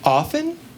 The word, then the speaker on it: often: But the word is pronounced like soften. You know, we don't say the T, we wear it.